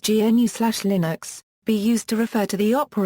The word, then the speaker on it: GNU/Linux: Linux for the GNU Project Stallman repeatedly asks that the term GNU/Linux, which he pronounces "GNU slash Linux", be used to refer to the operating system created by combining the GNU system and the Linux kernel.